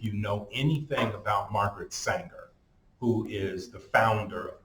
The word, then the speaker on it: Sanger: Her name is spelled just like danger, but with an S. Okay, Sanger.